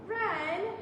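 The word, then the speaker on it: wren: that Ren built and ren has a w we don't really pronounce the W it's kind of silent Ren and a ren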